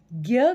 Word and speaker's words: ज्ञ: ज्ञ का जो पुराना उच्चारण संस्कृत ध्वनियों में किया जाता था, उसमें ज और य को मिलाकर ज्य की तरह से उच्चारण होता था, लेकिन आज हम हिंदी में जिस ज्ञ का प्रयोग करते हैं उसमें ग और य का मेल सा सुनाई पड़ता है।